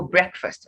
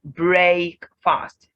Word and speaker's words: breakfast: know breakfast already well you must have been pronouncing the word as break fast but no this is not break fast on their own break would be break fast would be fast but together you have breakfast breakfast if you've listened